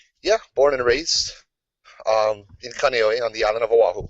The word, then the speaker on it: Kaneohe: Every vowel in the Hawaiian alphabet only has one way to pronounce it. Not like the 7 different ways you can pronounce A in English, or A is ah, and A will always be ah. Cool. And everything is pronounced. There's no silent letters either.